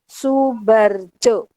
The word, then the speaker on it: Soebardjo: sejarah tentang Ahmad Soebardjo tulisannya Soebardjo Tapi bacanya Soebardjo diberi depan Maaf ra